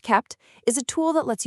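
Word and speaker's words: kpt: Caped, which is pronounced kept, is a tool that lets you bundle a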